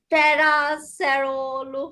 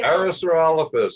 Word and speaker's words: Parasaurolophus: Parasaurolophus and Prosaurolophus and Saurolophus. There's a whole bunch of these guys. Yeah. Even But it's Saurolophus is the main part, so Parasaurolophus. Okay. That's how you pronounce it.